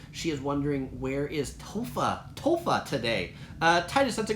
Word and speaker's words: Topher: that's a good question tofa or as i spell it Topher tea OPH ER because tea OPA gr+ Topher equals Christopher which is my full name taupe rea is is